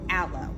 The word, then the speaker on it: Allo: most popular fibers and that is called aloe and I want you to realize that aloe is spelled a-l-l-o not a-l-o-e a-l-o-e denotes not account